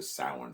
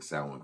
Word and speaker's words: Samhain: Because I did call it Samhain because of the Halloween movie. Dr. Loomis sees the Samhain written out, and that's how he pronounces it.